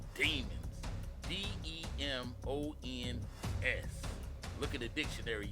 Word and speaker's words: Demons: If you don't know who this guy is, his name is Jamel Maurice Demons. But I'm going to say Demons because it's spelled the same way. That's right, Demons.